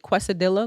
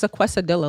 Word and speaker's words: quesadilla: even pronounced like that like quesadilla like what the is equestrila like i've never heard of